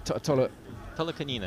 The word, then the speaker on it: Tolokonina: Tolokonina, yes.